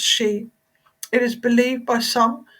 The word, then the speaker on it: Sidhe: It is spelled Sidhe but pronounced she.